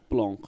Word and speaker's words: Blanc: Like I said, I thought it was Blanc as well because it's spelled B-L-A-N-C.